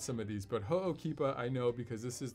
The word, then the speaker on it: Ho'okipa: the maui gym ho'okeepa and yes i might mispronounce some of these but ho'okipa i know because this is the most popular